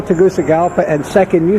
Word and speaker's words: Tegucigalpa: business neighborhood okay two things that first spell Tegucigalpa and second you said something about micro something